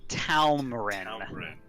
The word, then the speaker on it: Talmarin: Her name is Talmarin. Talmarin. Talmarin. See, 2 syllables.